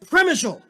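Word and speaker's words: Przemyśl: was from there, and it's pronounced Premishal. And then someone else will come up to me and say, my entire father's family, and it's pronounced, no, this other way. I don't know. If I'm going by sheer numbers, Premishal seems to be the consensus.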